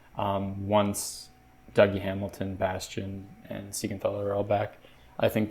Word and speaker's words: Siegenthaler: Jonas Siegenthaler, Siegenthaler, that's how it's pronounced.